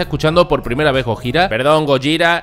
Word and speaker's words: Gojira: este baterista tocando gojira que sí que se pronuncia gojira vale por primera vez y como sabéis no